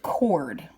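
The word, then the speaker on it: chord: it's felt like cord CH Ord but we pronounce it cord so I'm going to put a center point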